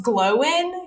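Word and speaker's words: Glóin: a whole conversation about like yeah it's definitely pronounced glow in because the action is on the o and then in the audiobook it's pronounced gloin so definitely glowing yeah yeah as long time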